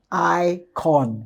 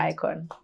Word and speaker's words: IKOJN: So now you know it's the icon. J is silent.